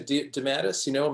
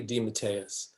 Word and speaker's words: DeMatteis: the way it's really, it got Americanized into DeMatteis. My father always used to say, it's really DeMatteis. And so finally, I don't know, some years ago, I said, if that's what it really is, that's the way I'm going to pronounce it.